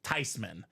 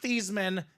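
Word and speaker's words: Theismann: nah not really it's actually supposed to be pronounced tysman so it's not theeman it's not Theisman it's Joe tysman tysman tysman in the house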